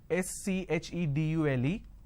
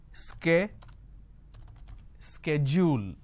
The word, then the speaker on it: schedule: i mean by this the british pronunciation is schedule and american pronunciation is sk schedule and this is a